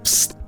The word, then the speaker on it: Pssst: Оригинальное название этой игры произносится как звук «пст». Звук выпущенного газа из баллончика.